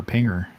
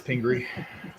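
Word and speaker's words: Pingree: I'm just like incorrectly speaking calling it mayor Pinger it's Pinger former mayor of Detroit yeah I have mayor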